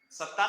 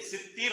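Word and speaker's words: الستير: ستار اللہ تعالیٰ کا کوئی نام نہیں ہے، ستیر نام ہے.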